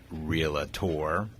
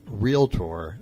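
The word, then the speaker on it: realtor: correct you on seeing real a tour because I don't say dr. tour I say real tour not real look it is two syllables you're right yes what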